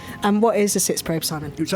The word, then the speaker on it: Sitzprobe: part of the process which is called the sits probe. Did I pronounce it correctly? You did. And what is a sits probe, Simon?